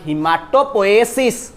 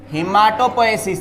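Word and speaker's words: haematopoiesis: और formation of blood is called हिमाटोपोएसिस। Pronounce my dear, क्या बोलेंगे? Formation of blood is called what? हिमाटोपोएसिस, HAEM, हिमाटोपोएसिस, ठीक है।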